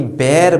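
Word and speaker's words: bear: व है भालू और भालू को हम लोग बियर नहीं बोलते बल्कि बेर बोलते हैं जी हां अगर आपने भालू को बियर पढ़ा है तो गलत पढ़ा है वो एक्चुअली प्रोनाउंस किया जाता है बेयर जिसकी स्पेलिंग क्या होती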